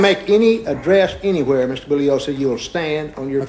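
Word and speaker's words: Bugliosi: any address anywhere Mr bullosa you will stand on your feet okay uh Mr Spence my name is pronounced bullos the g is silent I've told you this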